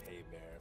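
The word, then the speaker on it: Hébert: Oh, and by the way, my last name is pronounced Haybear, if you care.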